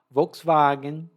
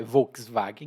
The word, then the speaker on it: Volkswagen: Volkswagen ou Volkswagen na pronúncia mais alemã, mas em português é Volkswagen mesmo.